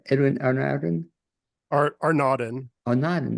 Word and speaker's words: Arnaudin: How to pronounce Edwin Arnaudin? Arnaudin.